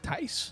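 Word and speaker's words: Thijs: It's like Tice. It's kind of like thighs.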